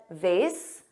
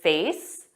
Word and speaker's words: vase: Now notice I said vase. Both pronunciations vase which rhymes with vase and vase which has an a but a z sound both are used in